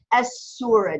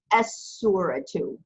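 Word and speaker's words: السورة: you still pronounce the Aleph but you don't pronounce the lamb it's a sum it's assimilated into the side so it becomes as surah 2 as surah - good clay Jen Medina how do you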